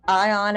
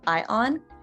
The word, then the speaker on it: ion: school like me um ion is actually a really fun word to pronounce that o in the middle actually sort of works like an like a y as we talked about before it has that springing